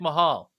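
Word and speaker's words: Mayall: Rick Mahal. Paul? Male. I say male. Mahal? Rick Male. Mahal? In the UK, we say male.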